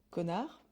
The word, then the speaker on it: connard: Connard, Oui, bah alors, ouais, bah, épelle-le. C-O-2-N-A-R-D. Ouais, bravo. Et Wow. on ne prononce Performance.